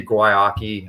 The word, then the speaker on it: Guayaki: Like you'll see Guayaki. I know that's how you pronounce it, just so you know.